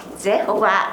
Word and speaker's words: Jehovah: 영어식으로 읽으면 여호와가 제호바 이렇게 얘기하는 거예요. 제호바. 네, 제호바. 영어식으로는.